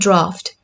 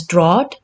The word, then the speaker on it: draught: Now coming to the second draft, which was draught. It looks like it should be pronounced as draught, but its pronunciation is again draft.